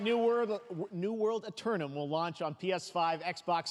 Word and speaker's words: Eternum: Oh, that's how it's pronounced. Eternum.